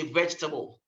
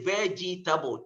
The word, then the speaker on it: vegetable: For example, when you look at, let's say, vegetable, we don't say vegetable. The three syllables, no. So you have to get the E out.